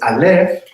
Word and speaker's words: Aleph: Entonces, Aleph es silencio, no tiene sonido. Es una consonante que indica silencio. Es totalmente muda. Y luego la vocal que acompaña a silencio es A, por eso nada más pronunciamos A. Pero A no es la letra Aleph como tal.